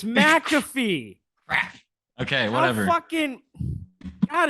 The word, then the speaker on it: McAfee: It's not McAfee, it's McAfee.